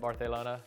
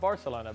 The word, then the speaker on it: Barcelona: he's had in barcelona i said it right barthelona can you like that not not barcelona barcelona and now in